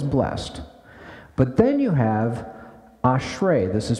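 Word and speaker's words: אשרי: is translated as blessed but then you have ashre this is pronounced ashre it means happiness or blessedness now the difference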